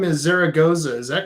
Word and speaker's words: Zaragoza: here I hate when it happened I I pronounced your last name is Zaragoza is that correct that's perfect thank you all